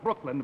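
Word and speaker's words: Brookeland: The name of the town is Brooklyn, but it's spelled B-R-O-O-K-E-L-A-N-D.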